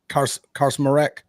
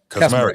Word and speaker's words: Kaczmarek: Will Karsmarek, and that how you spell it? Karsmarek or Karsmarek? Kaczmarek, yeah. Kaczmarek, that's it.